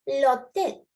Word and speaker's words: hôtel: Here it's l'hôtel. L'hôtel. The H is silent. We do not pronounce it.